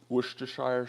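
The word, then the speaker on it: Worcestershire: bit of maple syrup and some W sauce worshire sauce as they say and what I don't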